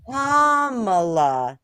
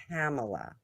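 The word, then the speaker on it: Kamala: care what her name is anymore comma not camela I saying comma yes I said KLA and they're like you're a little too trumpy and I'm like screw off I don't know how to say her name stupid president doesn't know how to say her name so I don't care well if you said it like kamla Harris then you would be really trumpy oh yes would so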